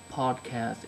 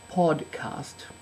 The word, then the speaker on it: podcast: thought I'd start with the word podcast which is spelled with a d which you could Overlook um podcast as an iPod um